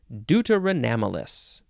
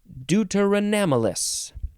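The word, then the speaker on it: deuteranomalous: that's the sound effect the word is deuteronomous deuteronomalous d-e-u-t-e-r-a-n-o-m-a-l-o-u-s deuteronomalous adjective from 1911.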